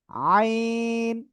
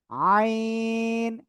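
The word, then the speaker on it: عين: আইন আইন গলাটা চেপে আমরা উচ্চারণ করব এটা চার আলিফটা নিয়ে উচ্চারণ করব আইন ওকে তারপরে আমরা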